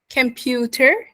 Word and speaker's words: computer: So whenever we have the T and it's in the middle of two sounds or two vowel sounds, it should be pronounced as a D sound.